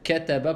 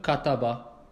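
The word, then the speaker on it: كَتَبَ: Essaye de dire kataba plutôt que kataba. Tu vois? Comme on a dit, on les prononce avec at-tarqiq de façon.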